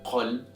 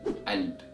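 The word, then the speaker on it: قلب: But in Egyptian Arabic dialect, however, this word is pronounced as alb, alb with the a sound.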